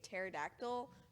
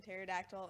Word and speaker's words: pterodactyl: he brought in a pterodactyl for the letter P, and for show and tell, because the P is silent in pterodactyl, and he was so